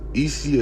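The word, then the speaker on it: אישי: Ishi is how you say husband in Hebrew, right?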